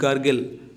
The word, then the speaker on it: gurgle: GAR, দেখো এটা দেওয়া রয়েছে, এটা হবে না, এটা GURGLE, গার্গেল, গার্গেল উচ্চারণ হবে, ঠিক।